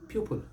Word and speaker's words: pupil: And the word is pupil. Pupil. Pupil. But you will hear it mispronounced pupil. Pupil. Pupil. Giving the second syllable the long E sound. It's not there.